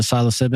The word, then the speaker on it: psilocybin: Did I say it right? The psilocybin. That's it.